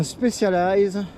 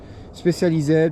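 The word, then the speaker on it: Specialized: Donc c'est un spécialize spécialisé pour ceux qui préfèrent prononcer toutes les lettres. Spécialize en en anglais puisque c'est américain à la base.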